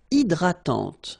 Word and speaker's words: hydratante: Une crème hydratante. So remember, H is not existing, and then this Y is pronounced like I. Hydratante.